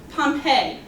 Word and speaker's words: Pompeii: Even before Julius Caesar started to conquer the land, there was an entire city that's spelled kind of weird. So listen to how we say it. Pompeii.